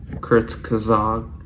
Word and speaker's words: Kurzgesagt: like that thank you Kurt kazog that's how you pronounce it but yeah if you